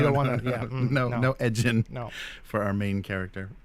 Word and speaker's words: Edgin: heard it before, and it's spelled edging without a G. And maybe you pronounce it Edgin, but it's pronounced Edgin without a G.